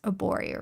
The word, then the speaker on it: Arborio: Arborio rice.